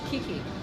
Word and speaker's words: Kiki: How do you pronounce that? Kiki.